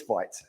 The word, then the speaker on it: Vite: So it's Vite.